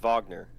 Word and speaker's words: Wagner: I think it's pronounced Wagner with a V, Wagner.